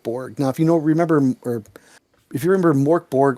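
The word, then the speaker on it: Mörk Borg: Now, if you remember Mork Borg, or as it's supposed to be pronounced, Merc Bore, that came out a couple years ago, kind of an open source horror-based role-playing game.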